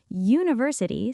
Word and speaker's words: university: University starts with the letter U, but say it out loud. University. That first sound is Y, a consonant sound, so a university.